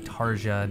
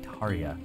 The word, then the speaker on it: Tarja: an ataria I guess not tarja not tarja Taria I so quickly forget pronunciation he's a soldier then